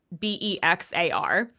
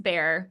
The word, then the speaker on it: Bexar: It's in Bexar County, which back when I recorded it, I said Bexar County, which is part of the humbling part because it's Bexar. It's pronounced bear.